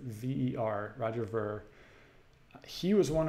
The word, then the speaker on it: Ver: beer is a bigot I pronounce it V er Roger Burke he was